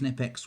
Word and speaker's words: Knipex: to print out i'm going to pronounce the k i think the knipe x wins because they are